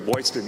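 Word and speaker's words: Boylston: Like Boston. TIL. Boston with a flair.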